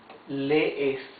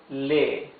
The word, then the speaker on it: lee: Now look, you can see there, these are double E's. Double E's, you pronounce them. It's not a long E. It's, you make like a stop. Lee, okay? Él lee. Yes? As if you try to pronounce two E's together.